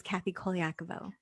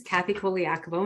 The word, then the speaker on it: Kathy Colaiaco: can you please share the magic that is kathy koliakovo sure so my name is kathy koliakovo and you are saying it right i am